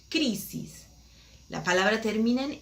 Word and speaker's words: crisis: Por ejemplo, crisis, acento en la primera sílaba, crisis.